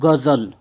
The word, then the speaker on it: ग़ज़ल: Uzbekistan सम ए गजल हम ग़ज़ल कहते हैं हमारे जगजीत जी ग़ज़ल गायक थे क्या ग़ज़ल गायक थे गजब के ग़ज़ल गायक ऐसा नहीं कहेंगे ग़ज़ल गायक टुकडा जो लव थोड़ा उच्चारण अलग करते हैं और लुटता लगाया जाता